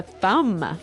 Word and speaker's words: thumb: so the pronunciation here do you say the b at the end of this word no I actually only pronounce the M the thumb the thumb